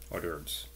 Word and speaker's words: hors d'oeuvres: I always pronounce it's written in French, hors d'oeuvres.